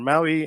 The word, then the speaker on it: MAUI: has been an evolution it's multi-platform app UI the p is silent because Empower does not sound very well Maui is so much cooler